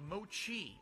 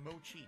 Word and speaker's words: mochi: thank you for reminding me there derek it's pronounced mochi okay i'll say it mochi thank you derek i'll say mochi cool derek says he's had mango and vanilla